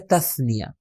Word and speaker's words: تثنیہ: بلکہ ہم تلفظ کرتے ہیں تثنیہ، صحیح تلفظ اس کا ہے تثنیہ.